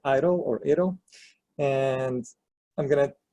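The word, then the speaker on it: EIDL: the first one so the EE IDL we pronounce it idle you know and I'm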